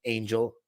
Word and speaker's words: Angel: That's really the way how you say it. Let's fuck that Americanization, Angel.